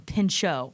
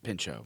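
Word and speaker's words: Pinchot: I pronounce his last name Pincho. I think it's Pincho. Yeah.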